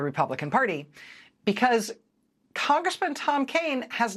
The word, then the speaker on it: Kean: It's currently represented by a Republican congressman named Tom Kean. Looks like Keene, but it's pronounced Kane.